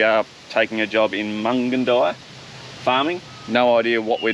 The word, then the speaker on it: Mungindi: We've been saying Mungindi, but it is Mungindi. I believe Mungindi.